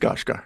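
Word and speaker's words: Skarsgård: of stellen scarg guard of stellen scard I believe it's pronounced scos guard yes yeah I mean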